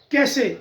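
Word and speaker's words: cache: होता है कैश counter, तो कैशे हम बोलते हैं कैशे, या ई की वजह से, तो ई विल बी साइलेंट हियर, तो यहां बोला जाएगा कैश, कैश, कैश।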